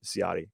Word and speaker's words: Ciotti: Ciotti, okay, an American pronunciation, Ciotti.